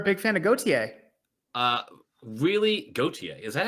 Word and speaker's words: Gauthier: Really, Gautier.